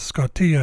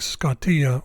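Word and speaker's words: σκοτία: way of pronouncing Iota this is a case where it's pronounced e instead of I try saying scottia with an i sound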